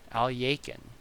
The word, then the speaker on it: Alekhine: unappreciated under appreciated even alekhine alekhine al yakin that's a proper way to say this name and it boggles my mind al yaiken and a